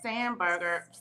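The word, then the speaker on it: Spanberger: And did you all also hear in Virginia that the new governor, Abigail Sandberger, is how you say her name, signed into Yes.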